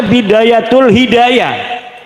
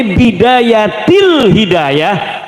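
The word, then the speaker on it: بداية الهداية: Karena deke maca Bidayatul Hidayah. Harus sebah dibacanya Bidayatil Hidayah karena ana huruf jer B.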